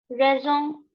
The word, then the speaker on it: raison: Okay, so when we have a consonant here, we never pronounce that consonant. We always pronounce the last word of last, vowel or word of Okay, so shah, petit, raison, and tabak.